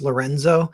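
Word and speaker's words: LRNZ: this Italian artist named el rnz or like pronounced Lorenzo and he has one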